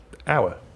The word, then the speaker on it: hour: actually that unusual because you don't pronounce the h at the beginning of hour do you it's just hour oh you are you